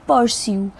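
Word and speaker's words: pursue: both wanted to पर्स्यू यह जो word है पी यू आर एस यू ई इसे हम बोलेंगे पर्स्यू पर्स्यू का मतलब होता है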